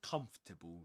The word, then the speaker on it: comfortable: friends a bit more comfortable, shall we? A bit more comfortable, shall we? Yes. So, a bit more comfortable. Comfortable. Three syllables. Even wizards, British wizards pronounce it in this way.